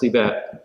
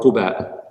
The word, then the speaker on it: Quba: border town before Medina known as Qiba or Quba. Both pronunciations are valid.